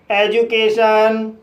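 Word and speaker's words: education: बड़े वर्ड्स में डी के बाद यू या वोवेल का कसोनेंट साउंड आए तब डी का उच्चारण ज होता है। जैसे gradual procedure graduate एजुकेशन individual Granger.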